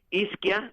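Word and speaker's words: Izkia: Ya, es Isquia, eso se escribe con I-Z-K-I-A.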